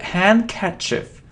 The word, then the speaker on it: handkerchief: No, we don't pronounce D. So handkerchief, and it isn't elite, and it isn't elite.